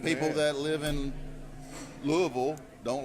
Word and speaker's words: Louisville: You guys get that right too. You heard it from Shake Anderson. Don't say it's not Louisville. Not Louisville. No, that's what white It's people Louisville. say. It's Louisville. yeah. We don't- Yeah, that's pretty much. If you're a right. white guy, you probably say Louisville. Well, stop that crap.